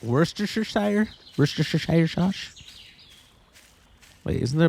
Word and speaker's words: Worcestershire: It's actually pronounced Worcestershire.